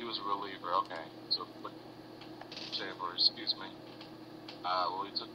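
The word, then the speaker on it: Hochevar: And it's pronounced Hochaver, by the way. Okay, he was a reliever. Okay, so Hochaver, excuse me.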